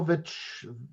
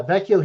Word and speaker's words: Vecchio: Luciano Vecchio. Vecchio? Yeah, Vecchio.